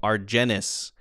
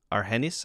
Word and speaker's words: Argenis: argentine is like the adjective right i originally pronounced this this viewer's name argenis and that was quickly corrected it's argenis i believe a-r-g-e-n-i-s is that that's his name